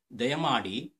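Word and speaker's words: ದಯಮಾಡಿ: Dayamadi, D is David there.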